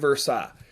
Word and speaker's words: Versailles: it's spelled the treaty of versailles but it's pronounced the treaty of versailles here's what's crazy about the treaty of versailles